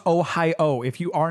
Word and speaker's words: Ohio: you know this or not they don't even pronounce it ohio they so they say ohaya it's like that's wrong well now that depends